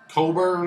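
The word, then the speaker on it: Cockburn: Jeff the Record Man made a video a while ago talking about Bruce Coburn, I believe is the correct pronunciation.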